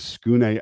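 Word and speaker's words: Tsukune: This is the boy is Skune Alno. His name is spelled like Tskune, but it's not.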